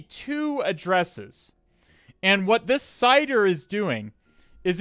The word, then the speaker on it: CIDR: it correct it's a cider Wonder W gets it correct as well it is a cider okay um if you're asking uh so uh cider it's it's spelled it's it's spelled cidr if you're wondering what